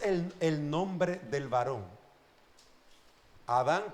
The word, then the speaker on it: Adán: el nombre del varón Adán con n al final y acentuado en la la última a la primera a la primera sílaba es el nombre del